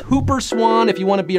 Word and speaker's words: Whooper swan: swans chance or maybe those Whooper swans actually pronounced Hooper Swan if you want to